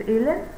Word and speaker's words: Elan: So Elan, I am pronouncing your name right. It's Elan.